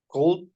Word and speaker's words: could: this ver model one could could could the L is silent before the last letter another example can you